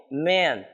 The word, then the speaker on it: men: a com e homens a pronúncia a a pronúncia é um pouquinho difícil tá pra gente apresentar o homem em inglês vai ser Man a gente vai demorar um pouquinho mais de tempo pronunciando e Mas é bem curtinho então ten Man Homem Men homens isso é um pouquinho mais longo dizer é plural exatamente